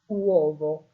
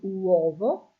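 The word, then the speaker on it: uovo: Okay, wvo. So here your stress is on the first o wo.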